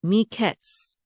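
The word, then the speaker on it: מקץ: Altogether, the syllable says ketz. Miketz.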